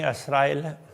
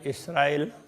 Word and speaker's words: असराइल: बनी असराइल, असराइल इसराइल, इस तरह से वो उच्चारण में थोड़ा थोड़ा फर्क है। कोई असराइल कहते हैं, कोई इसराइल कहते हैं।